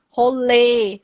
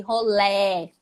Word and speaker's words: rolê: Rolê, com acento circunflexo, chapéu é para baixo, rolê e rolé. É a mesma coisa, só muda a pronúncia.